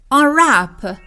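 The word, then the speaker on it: unwrap: هدیه کادوی بسته بندی آن رپ دقت داشته باشیم که حرف دبلیو در این کلمه تلفظ نمیشه سایلنت هست و فقط نوشته میشه بنابراین به این صورت تلفظش هست آن رپ مثال بچه‌ها با خوشحالی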